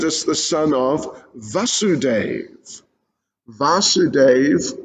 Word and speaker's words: Vasudeva: the son of vasudeva vasudeva with a long a so they blew their